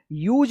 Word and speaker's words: use: पे रूल्स बदल गया, लास्ट में ई आया है तो इससे पहले अगर यू आता है तो यू का यू उच्चारण होता है। देखिए यूज पढ़ेंगे, क्या पढ़ेंगे, यूज पढ़ेंगे, COMPUTER क्या पढ़ेंगे इसको, कंप्यूटर पढ़ेंगे, कंप्यूटर।